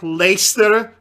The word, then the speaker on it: Leicester: having out having having a word like leicester but with but with one more syllable that's apparently silent what happened to what